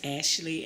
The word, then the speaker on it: Ashelee: okay um my name like she said is Ashley Singleton um did you want me to spell it out yeah yeah go ahead and spell